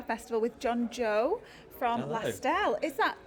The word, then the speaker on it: Lastelle: Lastelle, you got it right though. Okay, what? Go on, give us an example. We had like Lastelli, Oh, okay.